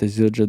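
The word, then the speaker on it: Zildjian: kunikov played a custom Yamaha drum kit with azildra DOT I thought I would never figure out how to pronounce this brand name but it's a drum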